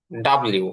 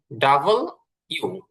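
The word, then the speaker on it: W: আচ্ছা, এরপরে আমরা পড়েছি ডাব্লিউ বা ডব্লিউ। এটা ডাব্লিউ না, ডব্লিউ না, এটা হচ্ছে ডাবল ইউ।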